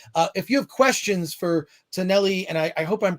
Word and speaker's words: Taneli: If you have questions for Taneli, and I hope I'm pronouncing your name correctly, is that you are perfect?